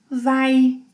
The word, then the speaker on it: vai: Você, ele, ela, a gente, vai, two sounds, vai, vai.